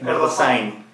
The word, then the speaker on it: Erdosain: Todavía no sé si es Erdosain o Erdosain. Erdosain. Pero lleva tilde, así que es Erdosain.